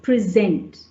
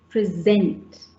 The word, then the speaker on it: present: Yes, present, present. So it's on the second syllable. What about present? Yes, it's in the first syllable, and of course it varies depending on whether it's a verb or a noun and adjective.